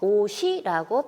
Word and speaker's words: 옷이: 그래서 그대로 이 홑받침인 시옷이 모음 이에 연음되어 옷이라고 발음하면 됩니다.